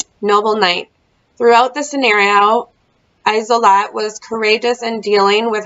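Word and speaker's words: Isolde: Oh, it's Isolot. That's how you pronounce it. Isolot.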